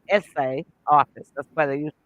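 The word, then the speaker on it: assay: a y essay but it's pronounced essay like a school essay office and so this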